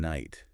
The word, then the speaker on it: knight: Um, also like the K and knight like wow why is that there?